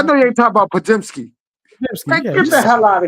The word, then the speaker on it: Podziemski: How you pronounce his name? Podomowski. man, I know you ain't talking about Podziemski.